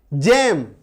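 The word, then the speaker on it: gem: जैसे जी के बाद देखिए क्या है, जी के बाद ई, जेम, इसको गेम नहीं बोलते, जेम बोलते हैं ना।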